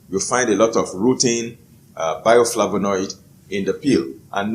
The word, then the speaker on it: rutin: Now, one of them is a bioflavonoid that is called rutin. It is spelled R-U-T-I-N, rutin.